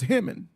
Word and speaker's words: Hammond: Oh, we can't go to Hammond? Yeah, 12 is the fastest way. Make sure you Hey, how's it properly pronounced? Hammond or Hammond? Hammond. Hammond. Hammond. Hammond. Hammond. Yep, like ham.